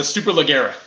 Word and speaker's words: Superleggera: Superlaga? Superlegra. This thing. Yeah, it's sweet. Did you see the price point on it? Yes, $700,007, and they did. That's awesome. That's hilarious. The Superleggera.